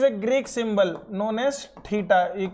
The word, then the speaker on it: theta: So we get a relation that sine of 90 minus theta. This is a Greek symbol known as theta. You can pronounce this as theta.